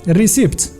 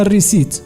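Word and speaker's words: receipt: يعني هذاك التي ماكتنطقش الكلمه الاخرى شنو نقدروا نقول لها الريسيبت لا فيها حرف بي ماكيتنطقش يعني حتى هو سايلنت كتسمى الريسيت وهذه هي التشعكيكه ديال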